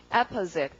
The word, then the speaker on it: opposite: 그 다음 단어 발음이 강세가 앞입니다. 발음을 어떻게 이거 강세 앞이면 이렇게 읽었죠. 그래서 발음이 opposite 이렇게 되고.